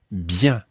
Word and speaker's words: bien: And the word for well is another nasal sound. It's bien.